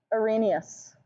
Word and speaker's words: Arrhenius: of acids and bases starts with an a arrhenius yes arrhenius and it's spelled our penis but pronounced arrhenius and what do arrhenius acids do they're not